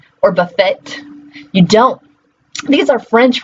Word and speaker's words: buffet: We use the words depot or buffet as great examples of that. Both of those words end in a T. Do you ever pronounce the T? Do you say depot or buffet?